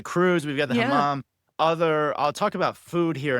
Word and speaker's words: hammam: It's a hammam.